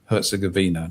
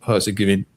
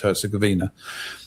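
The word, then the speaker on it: Herzegovina: It's Bosnia Herzuggavina, not Hersige. Oh, whatever. It's Herszuggavina.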